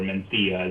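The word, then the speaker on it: Mencía: What's interesting about Mencia, or Mencia as people pronounce it in Spain, is for a long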